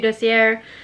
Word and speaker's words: Dossier: you so much for watching again thank you docier that's how you say it for sending me